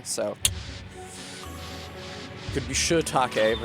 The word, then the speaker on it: shiitake: It was wise to spell it with 2 I's so that Americans don't say shit. Although it's hard for us not to say shiitake. It's just like the shi in shiitake is unstressed, and in American English